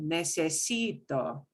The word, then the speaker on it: necesito: an n oh wow vowel enter s is the last letter so second to last syllable necesito nes now we're going